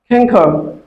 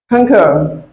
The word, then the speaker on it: conquer: So next word is canker. Here the stress syllable is cur. Cur must be stressed in this word. Conquer.